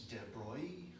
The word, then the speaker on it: de Broglie: It's French, so you don't say half the letters. So it's De Broglie. So there's no hard G there, I guess.